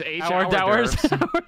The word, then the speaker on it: hors d'oeuvres: You're pronouncing it wrong. It's hors d'oeuvres.